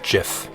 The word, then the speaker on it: GIF: It's pronounced GIF. Whatever.